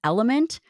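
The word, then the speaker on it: LMNT: Thank you to one of our sponsors, and that's Element, spelled L M N T but pronounced Element.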